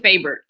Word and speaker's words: Fabert: you here today so let's welcome in fabric and I want to be sure I'm saying that right am i pronouncing that last name correctly it's actually favorite plant okay got it favored really glad to